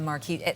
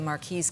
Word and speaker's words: marquise: And don't you love the Marquise? Most of the time when we see the Marquise cut or Marquis, they're both right, tomato, tomato, as far as pronunciation.